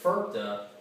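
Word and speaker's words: FIRPTA: It's actually an acronym, and I pronounce it FERPA.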